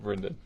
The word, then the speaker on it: Brendan: You got to say my name Brendan. I said Braden for a while.